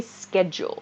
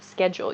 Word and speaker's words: schedule: a formal man okay uh night says schedule pronounced as schedule or schedule i an american english speaker i say schedule schedule you might i guess hear some people say